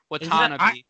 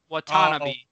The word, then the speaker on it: Watanabe: John Conchar, and then Yuta, how do we want to pronounce his name? Watanabe. There's an extra A in there. I feel like I want to add that A in there. Watanabe. I only have two A's down on his name.